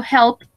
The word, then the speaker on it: helped: Entonces, la última D sí debe sonar. Yes. Se debe escuchar un poquito.